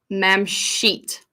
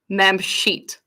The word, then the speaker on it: Mamshit: talking about ma'am sheet it is pronounced mem sheet I'm just gonna put